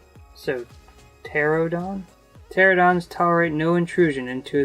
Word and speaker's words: Pterodon: I'm wondering if like a pterodactyl if the P is silent. So, pterodon?